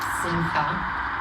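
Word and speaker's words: שמחה: Yeah, so the word for pleasure here is simcha, which is the only word I feel like I can sort of pronounce correctly. A little rattle in the back of his throat.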